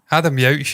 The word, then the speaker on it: Adam Yauch: Adam Yauch. Yeah. What's he called again? Jesus. I don't even know if I'm saying that wrong. Yeah. No, you're definitely saying it right, Stephen.